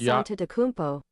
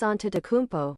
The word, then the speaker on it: Antetokounmpo: Giannis Antetokounmpo. Say it There it again. is. Say it again. Giannis Antetokounmpo. Okay. Giannis Antetokounmpo. No. I think you rushed. Giannis Antetokounmpo.